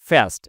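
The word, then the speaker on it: fast: হবে ফাস্ট ঠিক আছে এই ফাটা কিভাবে উচ্চারণ হবে উপরের দাঁত উপরের দাঁত আর নিচের কি ঠোটের যে সমক ভাগ সেখান থেকে ফাস্ট এমনে বলে তাহলে তাহলে কি হলো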